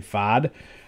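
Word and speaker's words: Pfaadt: are starting rookie Brandon fod I think it's fod I think the t is silent uh and I think the p is silent too but uh either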